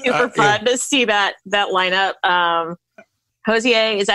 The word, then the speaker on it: Hozier: Hozier, is that how you say it? Hozier? Anyway. Hozier, yeah.